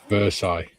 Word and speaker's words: Versailles: Versail. Yes. Is Versail not Versailles? No, Versailles. They pronounce it as two separate words.